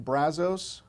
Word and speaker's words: Brazos: it the Brazos River is that the right pronunciation Brazos yes sir and that is southwest of Dallas